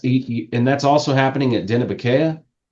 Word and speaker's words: Dineh-bi-Keyah: And that's and that's also happening at Denobaya. Yep. How do you pronounce that again? Because I always say it wrong. Denobaya.